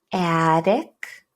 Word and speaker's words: attic: The difference is not only where to stress, but also which one uses the schwa sound. Can you hear the vowel that reduces to schwa? Attic, attack.